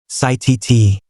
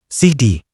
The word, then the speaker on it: city: When T comes between two vowels, Americans pronounce it like a D. Water. WHTR. WHDR. Better. BTTR. BHDR. Letter. LETR. LHDR. City. CITT. CD.